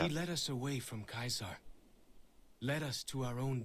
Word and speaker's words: Caesar: What about Kaiser? Caesar? It's pronounced Caesar, by the way.